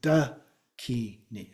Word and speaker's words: dakini: And so we've got three syllables as a part of it. Dakini or dakini. Again, there's a little different pronunciation options there. But it's pretty straightforward. Have a consonant and a vowel in each of the three.